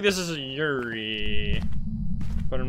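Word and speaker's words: Yurei: how yuri is pronounced it's actually pronounced you die i think because the japanese pronounce the r part of yuri as you die which i understand that if you're completely correct you want to pronounce it that way but because we are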